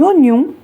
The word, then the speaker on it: oignon: Attention à l'orthographe de typique qui s'écrit avec un Y. Elle a choisi un bon vin rouge, des champignons, des oignons et du persil.